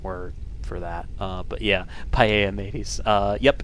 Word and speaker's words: Palamedes: But yeah, paella mateys.